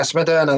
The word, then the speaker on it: Smederna: Is it Smederna? Is that how you pronounce it? Moderna. Yeah, Smederna, that's the one.